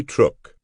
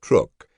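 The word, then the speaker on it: Truk: Mighty Truck. Before the war, hardly anyone had heard of Truck Atal in the Caroline Islands, 1,000 mi west of Quadrilene. Even the name was widely mispronounced, truck rather than Trrook, but the Japanese touted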